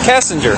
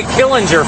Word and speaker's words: Kessinger: the time i know how do you say your last name again yeah kessinger i wanted to say killinger for some reason i know kessinger anyways the only reason